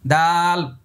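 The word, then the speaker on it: دال: ওই যে মনে আছে না তা যেখান থেকে উচ্চারণ করেছি এই তা আর দাল কিন্তু 11 নম্বর মাখরাজ এই যে এই জায়গায়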